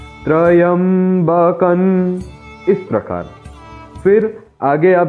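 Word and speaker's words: त्र्यम्बकम्: वे कहते हैं कि त्रयंबकम। ऐसा नहीं है मित्रों, यहाँ पर अनुस्वार का उच्चारण न होगा, त्रयंबकन इस प्रकार।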